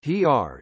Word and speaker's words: Xeer: Xeer, pronounced "hr", is the traditional legal